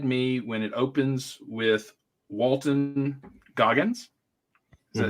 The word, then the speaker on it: Walton Goggins: Not a spoiler, but they had me when it opens with Walton Goggins.